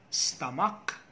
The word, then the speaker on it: stomach: pronunciation stomach headache character the ch there should have the k sound so it should be stomach headache and character stomach headache and character